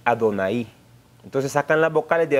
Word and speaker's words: Adonai: el nombre de Adonai, no Adonai, hermano, Adonai, acento en la I, para mostrar que dice el Señor.